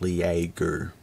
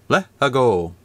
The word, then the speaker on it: LEAGOO: It could be LEAGOO, but I'm led to believe it's pronounced LEAGOO, or LEAGOO if you want it to be fancy.